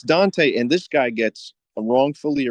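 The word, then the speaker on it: Dantès: really read French but it's spelled da with an accent mark a and ta so it's Dante and this guy gets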